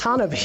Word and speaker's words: Hanabi: It's Hanabi. It's like if it was Japanese. It means fireworks.